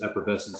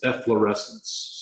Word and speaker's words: efflorescence: and I get calls for these three stains effervescence evanescent sand effervescence amongst any other variety of the pronunciations that are wrong with the correct for a way to pronounce efflorescence as efflorescence so if you take nothing else away from